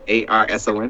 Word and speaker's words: Arsen: ARSON. 2 underscores. Should I say 2 underscores or underscore? No, I'll Is never it answer. ARSON. ARSEN. ARS. Pronounced like the crime, but not spelled the same.